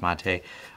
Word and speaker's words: MATE: But the Mate desktop, which I believe is pronounced Mate, this one works quite well.